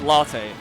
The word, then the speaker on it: Ratte: I don't know if because ratte we pronounce it just because of our Japanese people pronounce it please latte like latte like the drinking yes um I don't